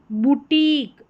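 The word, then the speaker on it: boutique: जैसे यहाँ पर है बुटीक, बुटीक, यहाँ पर है क्रिटिक, क्रिटिक, यूनिक, एंटीक, और ये है टेक्निक, टेक्निक।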